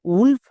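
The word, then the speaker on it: wolf: ডব্লু ও আমি যদি দেখতে পাই তার জন্য ওয়া সাউন্ড করব, একদম উচ্চারণ ঠিক হবেই, বাট এর ক্ষেত্রে ব্যতিক্রম আছে। যেমন নিচের শব্দে দেখো ডব্লু ও আছে, এর জন্য কিন্তু ওয়া সাউন্ড হচ্ছে না, যেমন উলফ, উড, এই দুটো হচ্ছে ব্যতিক্রম।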